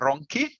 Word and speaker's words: Ronchi: in italian uh yes my last name is ronki yeah so it's very difficult for for a native english speaker to pronounce it well don't worry yeah from italy